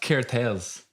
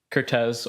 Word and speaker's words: Kertesz: And also joining us, as always, I believe it's pronounced Kertesz. Kertesz, or in Hungarian, Kertesz, whatever you guys want.